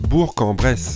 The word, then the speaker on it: Bourg-en-Bresse: Et oui, il faut bien penser à prononcer Le K. Qui est à la fin, qui n'existe pas. Ça se prononce Bourg-en-Bresse.